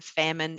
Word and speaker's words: Faehrmann: one to spell famine it doesn't look how it sounds I didn't try and